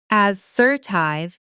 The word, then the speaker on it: assertive: Try that sentence slowly, then faster, and notice the stress. As-ser-tive. Stress in the middle.